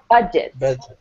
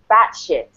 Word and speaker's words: budget: It's pronounced budget, so the first syllable has the stress. But here in Argentina, I always had one student say batshit, batshit.